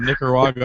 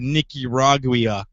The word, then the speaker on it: Nicaragua: pronunciation Contra freedom fighter that was the worst pronunciation of Nicaragua I've ever heard niiki ragua yeah it's to do with